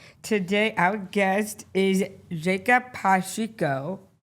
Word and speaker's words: Pacheco: Today, our guest is Jacob Patrio. Awesome job. Did I pronounce that right?